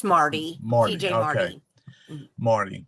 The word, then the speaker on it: Marty: So we'll go on to TJ Martini, or how do you pronounce that? Marty. It's just Marty.